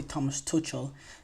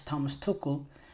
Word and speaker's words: Tuchel: name wrong or some I always say Thomas Tel it's Thomas tokle um but yes Thomas